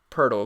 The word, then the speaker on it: Poeltl: Back in the day, I used to thought it was like Podol or something. It's Jakob Poeltl, according to Basketball Reference.